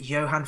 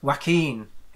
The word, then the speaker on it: Joaquin: Is it Johan Phoenix? Joaquin. Way off.